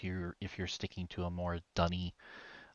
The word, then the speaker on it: D'ni: sticking to a more Dunny pronunciation as opposed to Mm-hmm. Denis. Mm-hmm. So we've got Dunny, Dinny, and the ambiguity all comes around that little apostrophe.